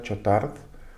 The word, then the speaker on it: Chautard: Te voy a citar justamente lo que dice Juan Bautista Chotard, o Don Chotard, se escribe Chautard, en su libro El alma de todo apostolado.